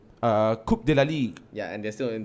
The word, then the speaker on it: Coupe de la Ligue: Coupe de la Ligue. Yeah, and they're still in the running for Coupe de la Ligue, right? Why are you smiling, CK? It's pronounced Coupe de la Ligue.